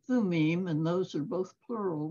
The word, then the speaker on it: Thummim: I think in Hebrew, they pronounce that instrument Urim and Thumim, and those are both plural words.